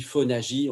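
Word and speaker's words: Fónagy: Hein, vous savez, cet auteur, Ivan Phonag, ça s'écrit Phonagie en français, mais ça se prononce Phonag.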